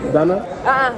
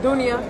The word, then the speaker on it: Dunia: Donna? Dunia. Dunia. Yes. I didn't see the eye. It's not hiding. See, I'm from New York. We said Donna. Nah, no, Dunia.